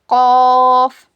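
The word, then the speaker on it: ق: का क्या मखरज है जबान की जड़ को ऊपर के तालों में लगाने से काफा होता है। इट is pronounced when the back portion of your टांग which is near to the throat touch the hard पैेट।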